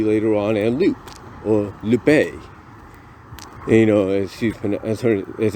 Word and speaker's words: Lupe: and even Dulcie later on, and Lupe, or Lupe, as it's pronounced.